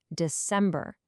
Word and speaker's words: December: It's a weak, strong, weak syllable pattern that can really help you nail the pronunciation. Just listen closely. September, October, November, December. Hear that? Da-dum-da. It's the same for all 4.